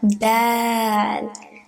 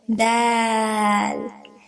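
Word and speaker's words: دال: First there's da, and then alif that makes it longer, and then lam. Dal.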